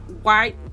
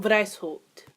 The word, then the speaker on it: Weishaupt: I won't say his name. Adam White. Oh, Lord. Is that German? Wow, it is German. Wow, I should probably fucking know that. So, the founder was actually Adam Weishaupt.